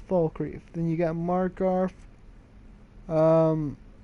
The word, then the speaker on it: Falkreath: By the way, for people who cannot pronounce Falkreath's name right, it's Falkreath.